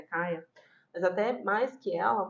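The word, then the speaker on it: Kya: ele também vivia no mesmo ambiente violento, até mais que a própria Kia ou Kaia, como vocês preferirem, tá? A pronúncia em inglês é Kaia.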